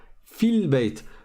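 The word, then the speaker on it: في البيت: Le alif, on ne le prononce pas parce que c'est le alif de liaison, hamzatul wasl. Comme il y a un mot avant, ben on ne va pas le prononcer.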